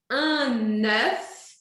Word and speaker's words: œuf: Aqui eu vou dizer un œuf Para fazer esse eu penso na letra E de égua e arredondo os lábios.